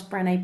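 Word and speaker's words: Brené: Brenda brown and if you haven't come across Brene brown it's worth looking up her TED talk Ted calm Brene is spelt BR e and e brown as in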